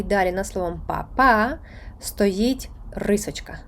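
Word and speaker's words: mamá: і далі на словом па-па стоїть рисочка стоїть графічний наголос Він стоїть не просто так він стоїть щоб ви звернули увагу і вимовили наголошеною саме ту голосну над якою він стоїть іноді це може кардинально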